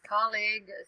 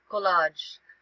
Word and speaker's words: colleague: Colleague, Colleague. EAG. Yeah. Some people pronounce it as collage, but it's not collage, it's colleague.